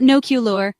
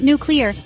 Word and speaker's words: nuclear: Forget about no lure. That's just asking for trouble. Instead, think nuclear.